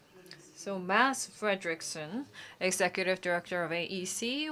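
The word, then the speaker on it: Mads: heard that his name m-a-d-s well D is silent so we should not say mad but Mass so Mass Frederickson executive director of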